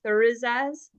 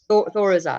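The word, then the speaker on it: Thurisaz: Thorizaz? Yeah, Thor is Oz. Thorizaz. Okay, Thor so think of just Thor.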